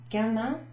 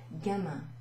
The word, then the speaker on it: gamin: We have gamin, which means youthful. It's a nice word. Gamin. I and the N is pronounced un. Gamin.